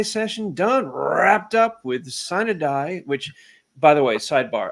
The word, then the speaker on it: sine die: done wrapped up with sin a die which by the way sidebar I took four years of Latin I will never be able to pronounce a sin it's c da right okay just so we